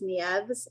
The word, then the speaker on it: Nieves: is Christy and I'm gonna say her last name wrong Nev's Nieves n-i-e-v-e-s and this is malabrigo Rasta and Ravelry